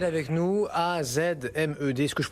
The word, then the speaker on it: AZmed: Avec ce soir Azmed avec nous, A-Z-M-E-D, est-ce que je prononce bien d'ailleurs? Julien, bonsoir. Bonsoir. Azmed, oui. AZmed ou Azmed, comme vous voulez.